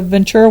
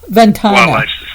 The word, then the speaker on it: Ventana: Um Did I say it wrong? Yeah, no, it's okay. It's it's it's common. Ventana. Wildlife Society.